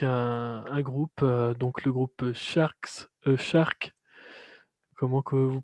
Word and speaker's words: Sharx: se retrouve avec un groupe donc le groupe sharks sharks comment que vous prononcez sa phase avec un x d'art voilà